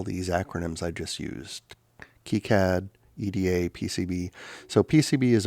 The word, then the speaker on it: KiCad: integrated circuits and printed circuit boards and then keycad which i have been pronouncing wrong forever as sky cad this is a specific suite of software that's